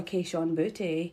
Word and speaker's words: Kayshon Boutte: But also, my boy Kayshon Boutte. And if you ain't saying his name like that, you're saying it wrong.